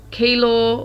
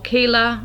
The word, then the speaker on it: Keilor: The first word that came to me was East Keilor or Keeler. I think it's pronounced Keeler.